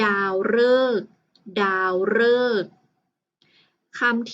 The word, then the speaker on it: ฤกษ์: คือ คำ ว่า ฤกษ์ ฤกษ์ ที่ มี ตัว รอ รึ กอ ไก่ สอ รือ สี ที่ เป็น ตัว การันต์ นะ คะ คำ นี้ นะ คะ อ่าน ว่า ฤกษ์ ค่ะ ฤกษ์ ต่อ ไป นะ คะ